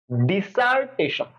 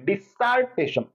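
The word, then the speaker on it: dissertation: ওকে, ডিসার্টেশন, ডিসার্টেশন মানে double এসটা, আমি জোর দিচ্ছি এস এর মধ্যে, ডিসার্টেশন আমার ডাবল।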